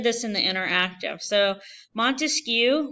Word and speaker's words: Montesquieu: in the interactive so Montesquieu Montesquieu three syllables three branches he believed